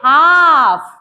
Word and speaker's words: half: क्या पढ़ेंगे चल अब यहां एच ए एल एफ हाफ नहीं पढ़ेंगे इसको पढ़ेंगे हाफ क्या पढ़ेंगे हाफ एल को नहीं पढ़ना है एल को छुपा देना है उसको साइलेंट चुप कर देना है ठीक है सी ए